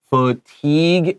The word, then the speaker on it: fatigue: term a long time fatigue is a tricky word with weird spelling pay attention f is a short u we have an a te sounds like a long e with a G but we have gue this is a French word and French and English spelling is really different so please practice this